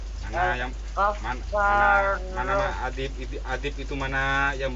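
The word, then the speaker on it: الغفار: Baca yang benar itu, tanda bacanya itu apa itu? Di atas apa di bawah? Al-Ghaffar.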